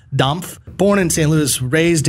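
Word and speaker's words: Dampf: of damp good barbecue i'm saying it weird because that's the way his name is spelled it's d-a-m-p-f domf born in st louis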